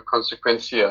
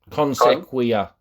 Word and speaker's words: Consequia: You're very focused on your Consequencia. I'm not sure whether I'm pronouncing that correctly. Consequia. So please, correct. Consequia. Consequia. Yeah.